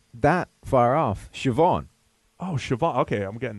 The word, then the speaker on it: Siobhan: not that far off Siobhan Oh Shiva okay I'm getting this now si si o is an is an SH sound right this way so